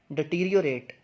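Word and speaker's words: deteriorate: इसकी जो सही प्रोनाउंसिएशन है वो है डिटीरियोरेट।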